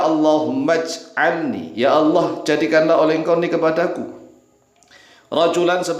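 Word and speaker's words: اللّٰهُمَّ اجْعَلْنِي: Karena hamzah tersebut disebut sebagai *hamzah wasl*. Huruf itu ada saat ditulis, tetapi ketika dibaca bersamaan dengan kata sebelumnya, huruf itu tidak diucapkan. Dibaca *Allahummaj'alni*.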